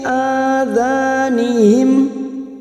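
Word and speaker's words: آذَانِهِمْ: Fi adhanihim. Nah ada hamzah lagi di sini tidak boleh diseret. Contoh saat diseret fi adhanihim itu namanya diseret, tidak boleh ya. Kita membacanya harus jelas, harus tegas.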